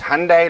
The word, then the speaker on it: Hyundai: do you say it I heard it's Hyundai like Sunday so well that makes sense